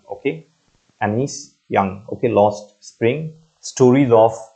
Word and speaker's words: Jung: spring written by Anis young okay j u n is pronounced as young okay anise young okay lost spring stories